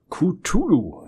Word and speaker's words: Cthulhu: Mir wurde ja ein Hinweis gegeben, dass ich das am Anfang wie ein Q sprechen soll. Und dass es denn so wird.